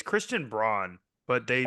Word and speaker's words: Braun: that is because if you read it's Christian Braun but they pronounce why say brown it is BR you know what is they